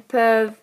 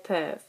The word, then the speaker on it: peuvent: Nous pouvons, vous pouvez, ils peuvent, elles peuvent. Again, we don't pronounce the ENT.